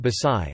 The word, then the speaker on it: Baxay: Later being conquered by the Gujarat Sultanate, a few years later Barbosa 1514 described it under the name Baksay, pronounced Basai, as a town with a good seaport belonging to the King of Gujarat.